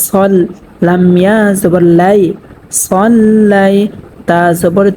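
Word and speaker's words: صَلَّيْتَ: অনেকেই কিন্তু এখানে পড়ে থাকেন সাল্লাইতা। সাল্লাইতা যদি পড়ে তাহলে শুদ্ধ হবে না, এখানে পড়তে হবে সল্লাইতা।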